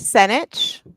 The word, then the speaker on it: Senich: Yeah, it's Senich. Senich. Oh, nobody can say it right the first time, but I always say it rhymes with spinach.